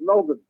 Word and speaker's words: Melbourne: No, we say Melbourne. Melbourne. You got to pronounce it right. It's Melbourne. Yeah, Melbourne. JJ's saying it right, Bill.